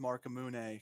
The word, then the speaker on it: Marcamune: I pronounce it Marcamune, kind of like the Masamune sword from Final Fantasy and whatnot.